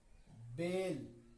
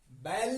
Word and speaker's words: bail: अब देखिए, BAIL, क्या पढ़ेंगे इसको? बेल। क्या पढ़ेंगे इसको? बेल। बैल नहीं पढ़ेंगे, बेल।